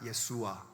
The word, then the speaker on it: 예수아: 의미를 갖고 있는 단어인데 이게 예수님 당시에 유대인들이 주로 쓰던 아람어 발음으로는 수아가 됩니다 예수아 예수아 되고 그게 이제 우리에게 예수